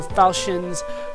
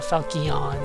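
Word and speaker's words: Falchion: to get it uh Falcons or Falin uh Falon however you're supposed to pronounce it I I believe the proper pronunciation is Falen but I've seen a couple different ones uh this one I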